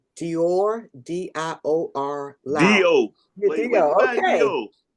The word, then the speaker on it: Dior: Let's see if I pronounce this right. Dior, D-I-O-R, Dio.